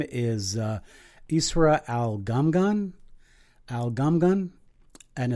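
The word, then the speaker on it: al-Ghomgham: a young woman and her name is Ezra al gum gun algum gun and it's actually pronounced al calm Ghana do the G in Arabic very well but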